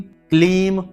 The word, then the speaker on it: क्लीम: यहां पर ह्लीम है, ह्रीम नहीं, ह्लीम, ह्लीम, ह्लीम, श्रीम, क्लीम, यहां पर क्रीम नहीं, बहुत से लोग क्रीम कहते हैं, क्रीम नहीं, क्लीम नमः।